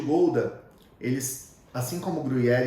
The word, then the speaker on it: Gouda: não é um é diferente a pronúncia não é gorda que nem a gente fala e o queijo gouda eles assim como grelhar